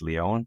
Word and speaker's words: Lion: And then the other place to check me out would be LinkedIn and just and then last name is Leon but it's spelled like lion as you mentioned L I O N.